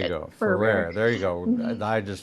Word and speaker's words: Ferrer: I should do it phonetically. Ferrer. Think of like a rare fur and then switch it. There you go. Ferrer.